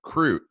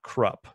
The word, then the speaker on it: Kruppe: name out loud again croute not Krupp Kreutz of the Italians